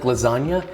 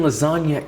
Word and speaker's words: lasagna: In the song where Lil Wayne says, "Real G's move in silence like lasagna," he's referring to the fact that the G in lasagna is silent.